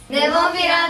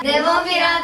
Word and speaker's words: Nemophila: Someone provided me with a video of the ladies themselves pronouncing the name. Nemophila desu. Nemophila desu. Nemophila desu. Nemophila, Nemophila, Nemophila, Nemophila, Nemophila, Nemophila, Nemophila, Nemophila. And I listened to their pronunciation over 100 times. Nemophila, Nemophila, Nemophila, Nemophila. That is not an exaggeration. Seriously, I listened to it over 100 times. Nemophila, Nemophila, Nemophila, Nemophila. And I now know that I'm pronouncing it exactly like they are.